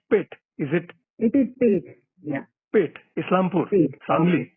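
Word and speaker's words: Peth: Now, how do you pronounce Pitt? Is it? It is Pitt.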